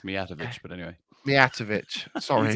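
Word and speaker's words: Mijatović: It's been a while since we actually agreed what the pronunciation is. Mitovic. That'll do. You still got it wrong, Dave, twice. It's Mijatovic, but anyway.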